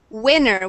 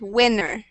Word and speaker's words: winner: word one more time gustavo winner with a short i sound winner winner much better perfect pronunciation if you say it with a long i sound it sounds like a hot dog so we want to make sure we say winner winner okay good work um